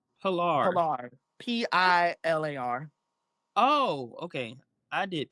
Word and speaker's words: Pilar: Pilar. Pilar. Oh, okay. I did PLAR.